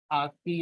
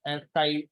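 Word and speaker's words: ASCII: तो सबसे पहला जो करेक्टर सेट था जो बनाया गया था, उसका नाम आप जानते हैं, आस्की या एस एस्काई, जो चाहे वो प्रोनाउंस कर सकते हैं, कि ये करेक्टर सेट है।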